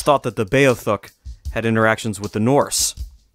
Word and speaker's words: Beothuk: There, before the arrival of the Europeans, was a small native population known as the Beothuk. There's several ways to pronounce that, and that's how I'm deciding to do it.